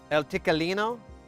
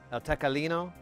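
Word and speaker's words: Tequileño: I could easily get off my ass and go uh elicino. I'm probably mispronouncing that. Eltecalino.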